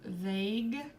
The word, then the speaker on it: vague: So for example, we have the word vague. You don't hear the U, but it helps our G to be a hard G instead of, I don't even know, vague.